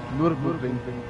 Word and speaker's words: Nürburgring: Come si pronuncia giusto, Kevin, per cortesia, perché mi piace troppo quando lo dici? Nürburgring.